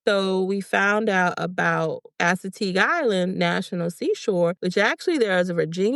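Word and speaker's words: Assateague: And I'm going to need your help, Chenise, because I don't want to butcher the name, but is it Asetig Island National Seashore? Yes. Asetig Island. Yes. Yeah. Asetig Island National Seashore.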